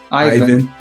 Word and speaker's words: Ivan: Um, am I pronouncing your name correctly? Do you pronounce it Ivan or even? Ivan. Ivan. Ivan.